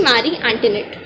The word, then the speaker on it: Marie Antoinette: Marie Antoinette. Pronunciation goes like this.